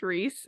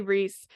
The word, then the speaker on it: Rhys: I say Rhys. Take it how you want to. I don't care, but that's how I say it.